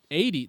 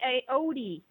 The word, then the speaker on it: Aoede: all about that but 80 that is how you pronounce it right am I right with this yeah oh okay you did good most people say a OD oh yeah because the